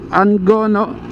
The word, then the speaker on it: Angono: Angona na o angono ko alam yung pronounce dito kasi yung ibang tiga rito angono ang pronunciation ng kanilang lugar.